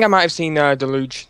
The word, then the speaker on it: Deluge: might have seen uh Deluge the Deluge however you pronounced it trailer yeah you you got it right the first time delou and I watched Monster